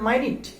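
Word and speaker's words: minute: logic আছে লজিকটা হচ্ছে যখন আপনি নাউন হিসেবে ব্যবহার করবেন তখন উচ্চারণ হবে মিনিট মিনিট অথবা আপনি যখন মিনিট উচ্চারণ করবেন তখন সেটা হবে নাউন যখন আপনি উচ্চারণ করবেন মাইনিট মাইনিট তখন এটা হয়ে যাবে এডজেক্টিভ তখন সেটা হয়ে যাবে এডজেক্টিভ এবং এক্ষেত্রে অর্থ হবে অতি ক্ষুদ্র ঠিক আছে তো আপনাদের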